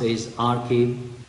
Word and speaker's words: arXiv: ProQuest wave of science arXiv which is pronounced a is our key the database are fairly